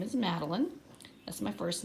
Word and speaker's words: Madeline: I do have a silent E at the end, but guess what? Like in the word fine, that silent E was making the I say I, fine. But in my name, the silent E does not do that.